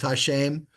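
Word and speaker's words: השם: the way you know this is pronounced Hashem and this is spelled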